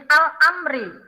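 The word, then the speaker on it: الأمر: Untuk yang ke-8, ini al-amri. Ini hukum bacanya al-qomariyah, yaitu alif lam bertemu dengan huruf qomariyah, yaitu alif. Di sini ya, alif lam atau al, ini bertemu dengan huruf alif.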